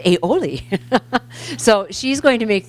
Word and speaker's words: aioli: had to have Google tell me how to pronounce that so it's aioli so she's going to make this beautiful dish